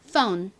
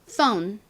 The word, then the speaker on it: phone: phone. 한 번 더. phone. 좋습니다. ph는 무슨 발음이 난다고요? f와 같은 f 발음이 납니다.